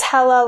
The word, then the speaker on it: Hela: If you are going to try and pronounce it, it's Hela, like Hela cool, rather than Hela, like Hela or Hela or anything like that.